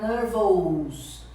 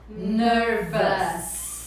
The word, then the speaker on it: nervous: Então como que você vai pronunciar? Nervous. Nervous. Você não pode pronunciar nervous, né? Fica feio, é um sotaque em português. Então, se você quiser falar em inglês bonito, você vai falar nervous, né?